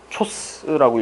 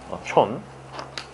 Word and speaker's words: CHON: 황이 있을 수도 있고 초스라고 읽기는 좀 그렇잖아. 촌 주성분이에요.